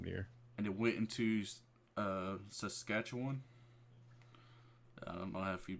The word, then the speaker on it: Saskatchewan: And it went into Saskatchewan. I don't know if you pronounce that correctly, but yeah, it like spread into that's right. Saskatchewan.